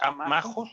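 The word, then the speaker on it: ἄμαχος: ¿Es amajos la palabra? En griego. Amajos, sí, con acento en la A.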